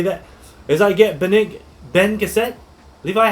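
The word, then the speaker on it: Bene Gesserit: that as I get Ben cassette Levi how do I say this yes how do I say this Ben Gazette you say it like I think you could say it like Ben Jesuit you're very good so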